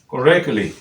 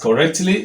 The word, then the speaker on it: correctly: spoken form and so what we do is simply take away the sound that is represented by that t and go ahead pronounce your English without struggle correctly correctly correctly if you were to pronounce it as correctly you have problem sometimes we find it